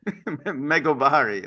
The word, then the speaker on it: Megobari: It says US House bosses Megabari Act and um you got you you got to you're not serious. This I I didn't even know how to pronounce it. Meobari.